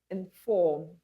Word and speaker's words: inform: Next, we have inform, inform.